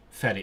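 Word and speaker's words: fferi: Ferry. It is ferry. Okay. One New Year's Eve I was traveling from England to France on a ferry.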